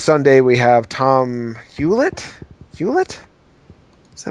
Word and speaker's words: Hewlett: Hewlett? Is that how I say his name, guys? Tom Hewlett. Right? Yeah, Tom Hewlett, formerly of Konami, now at Way Forward.